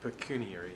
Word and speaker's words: pecuniary: to conflict of interest and, how do you pronounce that, Paul? Pecuniary interests? Pecuniary. Pecuniary, yes.